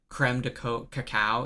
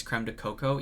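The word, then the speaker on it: crème de cacao: And then when I was learning bartending stuff, they were like, you don't pronounce it creme de cacao. It's creme de cocoa, even though it was spelled cacao.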